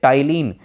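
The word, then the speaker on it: ptyalin: उसी लार में जब निकालेगी तो उसी लार में जो है एक टाइलिन, पी से शुरू होता है लेकिन टाइलिन नाम है, पी साइलेंट है, तो टाइलिन नामक एक एंजाइम पाया जाता है, या इसी को हम बोलते हैं सलाइवरी अमाइलेज।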